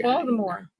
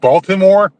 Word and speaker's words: Baltimore: You know that's we don't pronounce our consonants too often.